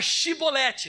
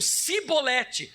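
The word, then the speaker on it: Chibolete: Porém eles diziam Sibolete, porque o não podiam pronunciar assim bem. Eles não conseguiam falar a palavra Shi, eles só falavam si, então ficava Sibolete em vez de Shibolete.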